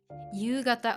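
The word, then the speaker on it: 夕方: So you, the kanji, it looks like the katakana ta, but it's pronounced you. It means evening. Gata, it means direction. You haven't learned it yet, but it's okay. Just learn it as yugata.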